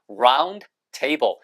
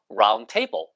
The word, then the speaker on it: round table: round table. 그 발음이 거의 들리지 않아요. 원래 있지만 round table 이러는 원어민은 한 명도 없어요. round table. 자, 그 발음 안 하잖아요.